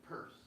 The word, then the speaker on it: Peirce: Now, P-I-E-R-C. You pronounce it Peirce.